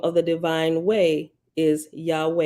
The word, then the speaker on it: Yahweh: Hebrew name for deity Yahweh pronounced Yahweh although you will usually